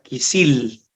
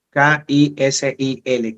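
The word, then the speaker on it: כְּסִיל: La palabra necio en el hebreo se escribe la palabra kisil con K, K-I-S-I-L, kisil, que significa tonto, bobo, insensato.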